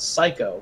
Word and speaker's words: Scykoh: is one Let's Player I watch called Psycho, but he spells it SCYKOH.